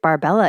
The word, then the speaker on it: Barbella: her by they call they say her last name wrong so in all of the newspaper she's known as barbell no no no not barbell Maria barbery barbery Barber I